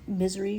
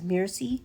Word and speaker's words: Misery: like pronounces words wrong, and instead of saying Misery, she just says Mircy, so she keeps calling her the wrong name because she can't pronounce it, and it's like super cute.